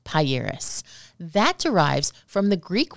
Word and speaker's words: Pieris: the name of this shrub is pronounced pairis that derives from the Greek word priorities the